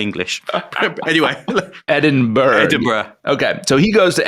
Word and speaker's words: Edinburgh: Edinburghough.